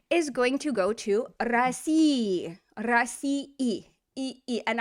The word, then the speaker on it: России: So something like Россия is going to go to России, and I'll say the e just so you can hear it, but most you would not hear that in spoken speech.